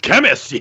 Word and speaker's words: Khemmis: And I always I kind of just liked how it looked, and I kind of liked how I pronounced it, which I think we call it Khemmis.